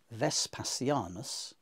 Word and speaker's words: Vespasianus: in Latin looks like Vespasianus. And it's, because it's Uespasianos in Greek, that gives us more evidence that the V in Latin was pronounced more like an English W.